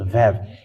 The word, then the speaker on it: ו: It is called Vav. It is pronounced as V, and this is how we write it in Hebrew.